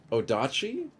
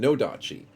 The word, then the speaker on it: Nodachi: Odachi? Did I say it wrong? Nodachi.